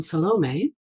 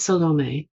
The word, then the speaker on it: Salome: Her name was Salome. I know some people pronounce it differently. If you look it up on the internet, you're going to find various pronunciations. This is how I pronounce it.